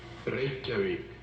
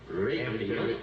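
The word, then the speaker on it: Reykjavík: Torres leaves, I wish he'd do me one great favor and tell me how he pronounces the capital of Iceland. Reykjavik. Reykjavik? Yes, you said it quite well. Reykjavik.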